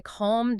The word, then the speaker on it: calm: That is exactly why calm doesn't rhyme with cat, and talk doesn't rhyme with tack. The dark L alters the preceding vowel, and then essentially vanishes into the M or the K.